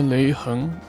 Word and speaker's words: Lei Heng: can fit all my yapping into a single Lei Heng, yes, that's how you pronounce it, fight.